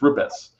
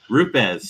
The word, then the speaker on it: RUPES: we start every training with these are the ways not to say it, and then there's the proper way, but it's RUPES. RUPES.